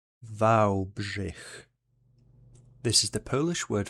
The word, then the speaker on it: Wałbrzych: It is pronounced as Wałbrzych. Wałbrzych.